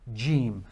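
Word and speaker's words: ج: the letter J so just exactly how we are pronouncing the letter J in our English language G is the exact same way that it is pronounced gim so there's a little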